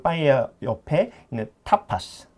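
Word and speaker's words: tapas: 그 빠에야 옆에 있는 타파스. 네. 근데 이제 저희는 아까도 말했지만 T를 네. 세게 발음하거든요. 그래서 네. 타파스. 타파스. 우리가 이제 영어로는 타파스 그러지만 타파스 그러지만 여기 있는데 타파스. 타파스. 타파스라고 발음합니다.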